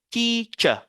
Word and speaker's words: teacher: Donc, généralement, les mots qui se terminent par ER, généralement dans l'anglais britannique, vous savez, en anglais britannique, on ne prononce pas le R comme en anglais américain.